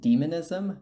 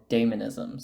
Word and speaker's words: Dæmonism: I would pronounce it demonism, but there are some people in the community that do call it daemonism. So both pronunciations are okay.